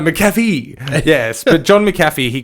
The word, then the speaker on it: McAfee: I was saying McCaffrey just then, so I just butchered that. My apologies. John McAfee. I'm drinking a coffee as we say it. No, McAfee.